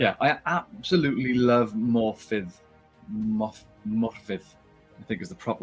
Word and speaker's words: Morfydd: Morfydd, I think is the proper way of pronouncing it.